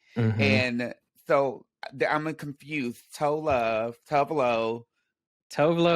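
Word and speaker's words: Tove Lo: Tovlo. Tovlo Oh, is like the Americanized way we all say okay. it. And then I believe the Swedish version is like Tuvalu or something.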